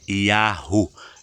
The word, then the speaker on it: Yahu: Então o nome do nosso Pai que criou todas as coisas, a pronúncia mais perto do original é Yahu.